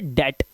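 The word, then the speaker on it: debt: right इसी तरह से डेट अब लोग इसे डेप्ट पढ़ते हैं बी ले लेते हैं बी नहीं लेना है भाई सिर्फ डेट पढ़ना है डेट मतलब कर्ज ठीक है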